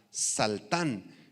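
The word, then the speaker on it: שלטן: apunten la palabra dominio es la palabra aramea saltan con ese y acento en la segunda a saltan y significa soberanía para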